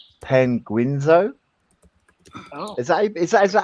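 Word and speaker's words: Penguinz0: I watched some Ordinary Gamers take on it, and I'm gonna butcher this name, Penguinzo. Oh. Is that how you pronounce that name? Penguino.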